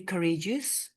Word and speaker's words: courageous: We are not pronouncing this as courageous. Okay? Courageous, not at one go. Rather, we pronounce this as courageous. 3 syllables, right?